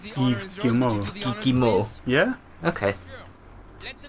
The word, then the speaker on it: Yves Guillemot: CEO and co-founder of Ubisoft, Yves Guillemot. Everyone please, Yves Guillemot. What a guy. How'd you say his name? Yves Guillemot.